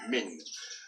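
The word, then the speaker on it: مِن: It always has this kesra here below, and that's a e sound, a short e sound, min.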